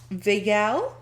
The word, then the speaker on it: vagal: So, vagal?